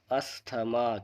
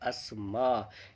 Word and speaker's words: asthma: आप जहाँ तक मेरा ख्याल है इसे बोलेंगे अस्थमा, क्योंकि ज़्यादातर लोग इसको अस्थमा ही बोलते हैं, लेकिन इसका प्रोनाउंसिएशन बिल्कुल गलत है। चलिए इसका आंसर आपको बताते हैं। इसका सही प्रोनाउंसिएशन होता है अस्मा। इसको आप ध्यान रखें, अस्मा।